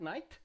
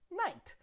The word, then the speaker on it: night: end of a word just pronounce the t not the h not the g just the t right like when you say light and the opposite at night night uh the past of